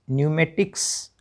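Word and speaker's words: pneumatics: अगला वर्ड है पी एन ई यू एम ए टी आई सी एस न्यूमेटिक्स। ठीक है? तो पीएन में पी साइलेंट रहता है और पी और दूसरे नियम से भी सीखना है।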